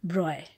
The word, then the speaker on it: Broglie: The name is written Broglie, but it is pronounced as Broglie.